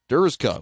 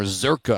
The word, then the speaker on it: Zurka: that's number 66 Dallas durka with the back tackle of the Back Field there or zurka I hear is the the correct way to say it over to the loudspeaker